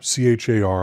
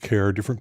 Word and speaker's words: char: The integer types include char, C-H-A-R, I pronounce it char, some people say char, int, short int, long int, and long int.